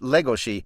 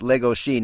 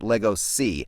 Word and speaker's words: Legoshi: Oh, yes, it's pronounced Legoshi. It is based on Bela Lugosi, who's everybody calls Bela Lugosi, which is not the actual way to pronounce his name.